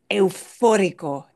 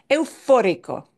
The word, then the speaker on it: eufórico: me gusta mucho sí eufórico eufórico eu eu como Europa como la moneda el euro eu eu es difícil de pronunciar sí eu eufórico eufórico también hay un